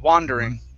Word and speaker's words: wandering: Okay, instead of wonder, it's wah, wandering, wandering. Wandering. Okay, one more time.